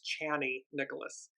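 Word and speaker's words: Chani Nicholas: Nicholas I I apologize I've been saying her name wrong it's channy Nicholas um incredible astrologer and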